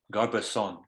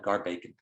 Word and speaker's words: Garbason: River, a creek that I think the right way to say the creek is Garbason Creek. We always called it Garbacon Creek.